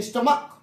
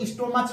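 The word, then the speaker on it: stomach: जैसे है स्टमक, अगर स्टमक की स्पेलिंग देखें, कुछ लोग इसको स्टोमच भी पढ़ते हैं, स्टोमच भी पढ़ते हैं, लेकिन है स्टमक। क्या है, स्टमक है, का ध्वनि हो रहा है।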